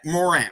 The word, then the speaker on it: Morant: uh um uh um how do you say his name duran or moran morant moran not durant morant and uh and then